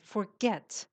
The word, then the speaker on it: forget: Shirin, forget. The Mhm. stress is on the second syllable.